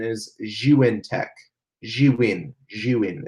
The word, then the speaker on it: Zhiyun: tech it kind of does but the proper pronunciation is you in tech she win human it's not Zune or June it's you in you in tech so that's